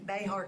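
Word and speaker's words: Bexar: They were hoaxes, but they didn't know that because the person pronounced Bernie correctly, and they pronounced the county, Behar County, correctly.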